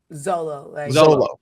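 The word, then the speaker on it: Xolo: how do you say his name is it sholo or solo Zolo yeah what is he thank you so when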